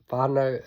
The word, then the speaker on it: whānau: And then we've got our low carb healthy whānau community Facebook page, and that whānau is spelled F-A-N-A-U, and that's sort of a take on low carb healthy fats, low carb healthy whānau.